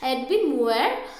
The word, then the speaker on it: Edwin Muir: Okay, so it is the pronunciation is Edwin Muir.